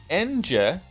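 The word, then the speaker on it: Ange: Glad you have gotten to my favorite character of all time now, Angie. Favorite character of all time, really? I'm here to tell you her name is pronounced Enje.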